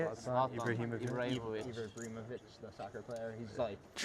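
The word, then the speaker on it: Zlatan Ibrahimović: Zlatan Ibrahimovic.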